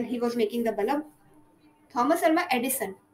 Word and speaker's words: Edison: was making the balam Edison not Edition Edison I always be confused